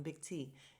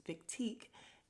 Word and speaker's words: Big Teak: we have big teek i was saying his name wrong i keep calling him big t it's big teak and we got teak